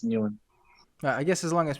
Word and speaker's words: Nguyen: Because whenever people say, all the Australian people say you're saying it wrong, and then whenever people say new end, all the Americans say, man, you're saying it wrong. So for me, I just stick to what I know, and it's new end.